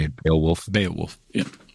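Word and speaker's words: Beowulf: says 13th Warrior is also a retelling of bay bale wolf is that how you say it Bale wolf B wolf yeah B wolf yeah uh new 206 says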